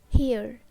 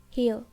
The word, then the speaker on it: here: Here. Here. We can also pronounce here. Here without R.